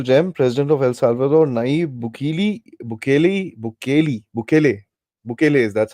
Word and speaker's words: Nayib Bukele: President of El Salvador, Nayib Bukele is that's how it's pronounced.